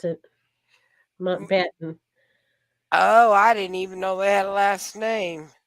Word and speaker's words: Mountbatten: That's how you pronounce it. Mountbatten.